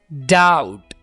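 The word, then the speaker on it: doubt: डाउट, यहां पर B silent है।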